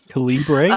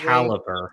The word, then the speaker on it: Calibre: i'm yeah i i i still say his last name wrong calibration um apparently it's caliber yeah it's caliber come on